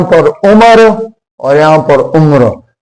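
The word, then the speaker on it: عمر: तो हम कहते हैं कि भाई तुम्हारी उम्र कितनी है, तुम्हारी उम्र कितनी है, और यहाँ पर उम्र और यहाँ पर उम्र।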